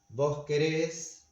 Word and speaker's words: querés: Instead, on the other hand, vos querés, nosotros, nosotras queremos, vosotros, vosotras queréis. The stress is in the ending, so it keeps being like this.